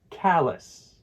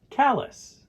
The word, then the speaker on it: callus: Callus. Callus. It's important to remember that the A in callus sounds like the A in cat.